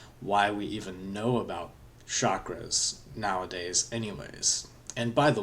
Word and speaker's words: chakra: and somehow it's become chakra. And I am guilty of this myself. I kind of think of it as a different language pronunciation of chakra.